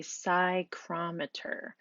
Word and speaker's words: psychrometer: that is called a psychrometer the P is silent so we don't pronounce that so it's sie Crom